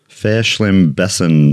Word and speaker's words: Verschlimmbessern: What does the German word Verschlimmbessern mean? Okay. Luckily, Madeline gave me phonetic spelling there because it doesn't look like that. It starts with a V, but apparently it's pronounced Verschlimmbessern mean.